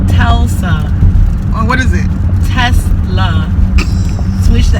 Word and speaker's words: Tesla: A Tulsa? That's all I'm calling an It's accent. a Tesla.